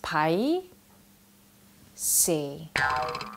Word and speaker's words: pai seh: Now this word is pronounced Pai Seh.